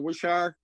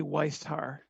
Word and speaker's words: Weishar: Wishar, am I pronouncing that correctly? Pretty close. It's actually Weishar.